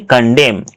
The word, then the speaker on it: condemn: Okay, here n is silent. So we'll tell condemn.